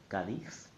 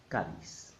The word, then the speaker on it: Cádiz: There are only two possible correct pronunciations. The Castilian one, Cádiz, and the Latin American one, Cádiz.